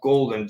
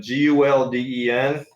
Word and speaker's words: Gulden: I believe it's pronounced golden, Gulden.